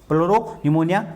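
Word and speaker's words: pleuropneumonia: इसमें P silent रहता है। प्लोरोनिमोनिया लाइक ऑर्गेनिज्म, ये इसकी फुल फॉर्म होती है।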